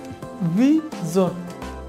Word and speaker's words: vision: Please খেয়াল করুন, আমার সাথে বলার চেষ্টা করুন, ভি, দাঁত নিচের ঠোঁটের সাথে ভি, আর S-I-O-N, জোন, ভি জোন, ভি জোন।